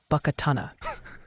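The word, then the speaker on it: Buckatunna: The pronunciation of Buckatana, especially in Mississippi, is often Buckatana, with emphasis on the second syllable.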